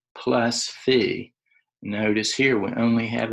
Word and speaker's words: phi: since it's an addition is called fee it's spelled pH I so this is not theta right Thetas got a horizontal line it's fee the Greek character fee and so we write